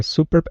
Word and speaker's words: super: on the second syllable it's different than the word super like something's really great it's super accent is on the first syllable there but the word superb